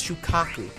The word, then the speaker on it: Shukaku: Why'd I keep saying it like that? I'm intentionally mispronouncing it. It's Shukaku.